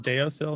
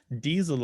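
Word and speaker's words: deasil: notes diesel really well she says deosil no diesel according to all the dictionaries i'm looking at oh i see merriam-webster has both pronunciations oh really it looks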